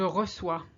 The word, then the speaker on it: reçois: For instance, je reçois, I receive. The S is silent.